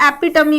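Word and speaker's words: epitome: embodiment किसी चीज का आदर्श, एग्जाम्पल एपिटमी, इसका सही प्रोनाउंसिएशन एपिटमी होता है।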